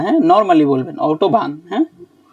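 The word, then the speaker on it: Autobahn: ভারি করে আনতে হবে না হ্যাঁ নরমালি বলবেন অটোবান হ্যাঁ হ্যাঁ ইংলিশে যেমন স্টাকে একটু চাপ দিয়ে উচ্চারণ করেন ভারি করে প্রয়োজন নাই ওটা আউটওভবান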